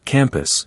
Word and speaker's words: campus: For instance, in campus, we don't emphasize both syllables equally. It becomes campus, with the second syllable reduced to a short, indistinct sound.